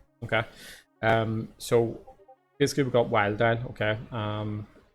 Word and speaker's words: Wiledile: So basically we got Wiledile, okay. So basically dial from crocodile, wild because it rhymes with dial.